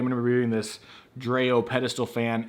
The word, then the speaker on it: Dreo: to be reviewing this dreo pedestal fan it's dreo or dreo it's spelled d-r-e-o this is on Amazon